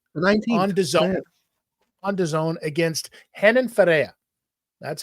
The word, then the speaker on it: Renan Ferreira: They're the softest R's you'll ever see.